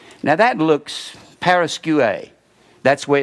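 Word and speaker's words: παρασκευή: Now that looks paraskeue. That's where it's just paraskeue. That EU is pronounced U, and this last E is pronounced A.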